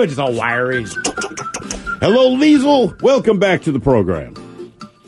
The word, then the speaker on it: Liesl: Hello, Liesl.